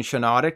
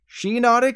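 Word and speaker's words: Shiinotic: evolved form of Moralo I always flip-flop between shanatic and shine Onyx so it's nice to know I was wrong on both attempts sheenotic is based off shiitake shine and hypnotic so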